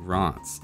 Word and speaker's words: Reims: cities around and including Reims. Yes, it's not pronounced anywhere close to what you'd expect, but I'll try the French pronunciation so I don't get reamed out in the comments.